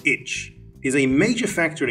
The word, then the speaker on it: ITCZ: the intertropical convergence zone or itcz pronounced itch is a major factor